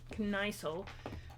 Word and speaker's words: Kniesel: Well, anyway, I was pronouncing it as Knickel, so you know, Kniesel.